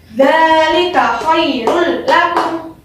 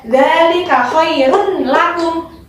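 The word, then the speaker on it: ذَٰلِكَ خَيْرٌ لَّكُمْ: Dzalika khairul lakum. Bukan dzalika khairun lakum. Bukan seperti itu ya. Karena ada hukum bacaan idgham bilang guna, makanya bacanya dzalika khairul lakum. Satu ketukan.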